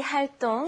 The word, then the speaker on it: 활동: And one last thing we heard, 동아리 활동, and you're gonna hear 활동 a lot. So practice the pronunciation. It's spelled 동, but it's actually 똥, like when you go to the bathroom. 똥, okay? 활동.